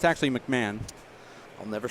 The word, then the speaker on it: McMahon: It's actually McMahon.